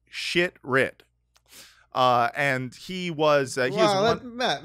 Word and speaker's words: Shitrit: Mayer Ben shitrit I I'm not going to pronounce this correctly I'm sure it's sheet Reit but his name is spelled shitrit uh and he was